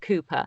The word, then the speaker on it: Cowper: we checked pronunciations like kupo the poet William Cooper which is spelt Cowper pronounced Cooper and I'd remembered that